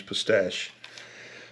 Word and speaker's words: pistache: And I say pistache, I've always called them Chinese pistachio, but I think it's actually pronounced Chinese pistache.